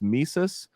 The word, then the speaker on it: Mises: i believe it's called i believe that's how it's pronounced mises uh after ludwig von mises they basically initiated a